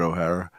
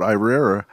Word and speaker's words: Irrera: O'Hara. O'Hara. O'Hara. How the fuck did you Why get it? O'Hara? And my name's written on it, Irrera.